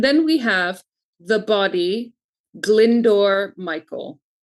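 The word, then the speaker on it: Glyndwr: And then we have the body Glindor Michael. And Glindor is spelled, it's obviously a Welsh name, uh, G L Y N D Wr, Glindor Michael.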